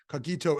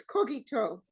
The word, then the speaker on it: cogito: oh by the way it's cookie toe but that's okay I took Latin in Bosco you you um emphasize the last syllable similar to Hebrew anyways look at you